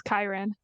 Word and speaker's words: Kyron: It's the way it's pronounced is Kyron, Kyron? not Kieran.